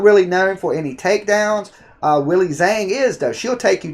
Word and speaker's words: Weili Zhang: Now we got Weili Zhang. Did I say her name correctly? Yeah, Weili Zhang.